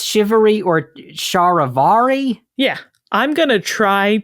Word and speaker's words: charivari: you see here and in English at least it is conventionally pronounced shivery sort of I've been